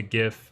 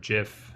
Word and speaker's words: GIF: might have trouble with a gif or Jif however you care to read care to pronounce it although I have a